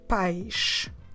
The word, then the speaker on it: pais: to know this one and parents is h paish pesh the parents as I told you before